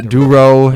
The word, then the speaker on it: Durow: You go by just Durow, right? Durow, yeah, my last name. Durow. Is Yeah. it Durow or Durow? Durow, Okay.